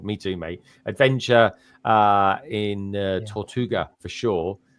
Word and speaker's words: Tortuga: Adventure in Tortuga for sure. Is that how you say it, guys? Is it Tortuga? Yeah, that's right.